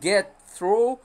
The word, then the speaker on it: get through: get through get through، وخلي بالكم في النطق، يا اما تقول get through يا اما تقول get through، وتخلي التي جلوتال، تقف بالهمزة على التي ما تظهرهاش. تمام، يبقى ليها نطقين get through او get through.